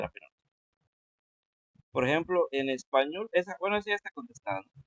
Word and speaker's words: español: Por ejemplo, en español, esa ya está contestada, ¿no? Español, pues ñol es la que suena más fuerte, ¿no?